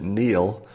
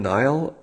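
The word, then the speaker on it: Niall: in the world so is this a proper pronunciation nyle or Neil can anybody clear that up for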